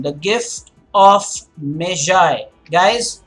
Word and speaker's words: Magi: pronunciation the gift of measure guys it is not Maggie for one thing Maggie spelt M double AGI this is measure and